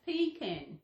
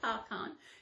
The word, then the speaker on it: pecan: pecan nuts p p-e-a-c-a-n so it's pronounced p-can not park on if it was pecan